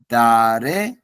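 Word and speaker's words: だれ: বিদ্যুৎ দ্বারে বা দোনাতা দ্বারে মানেও কে এটার উচ্চারণ হচ্ছে দ্বারে মানে কে দোনাতা অর্থ কে দ্বারে মানে কে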